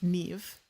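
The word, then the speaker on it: Niamh: Like I forgot like for example there's see I think it was like N A M H is pronounced nev.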